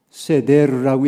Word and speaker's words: 세데르: 유월절 식사였기 때문에 그렇습니다 지금도 유월절 만찬을 가리키는 말이 세데르라고 얘기하는데 영어로는 똑같이 세대를 하고 발음을 합니다만 제대로라는 만찬을 그들이 하는